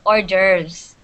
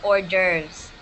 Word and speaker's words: hors d'oeuvres: the verb thank you this is pronounced hors d'oeuvres can everybody say that orders so there's no there's no h and s in the first word it's orders okay what what are orders